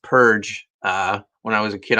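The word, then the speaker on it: Perg: An ad for Purge in the back. Just recently, I learned that it's pronounced Purge. When I was a kid, I called it Purg, and it's spelled Purg, P-E-R-G, but pronounced Purge.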